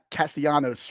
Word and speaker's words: Castellanos: Did I add an extra syllable? Thomas Castellanos from Boston College.